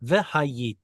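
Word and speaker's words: וְהָיִיתִי: Ve-hayiti lakhem le-Elohim. Uh it's um veqatal. It is. Very good. So, it should be the the stress should be over there. Ve-hayiti.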